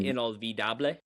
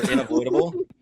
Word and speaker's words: Inolvidable: he picked, Baile um, Inolvidable. yeah. So I saw it earlier and I thought that it was Bail Unavoidable or Inavoidable. Because that's how it looks.